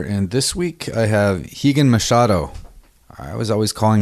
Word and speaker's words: Rigan: triumph and disaster and this week I have Hagan Machado I was always calling him Regan for some reason I mean that's I think